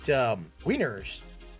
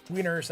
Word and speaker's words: Wiener: They're written Wiener in German, but it's the W, it's pronounced V as in Vienna, right?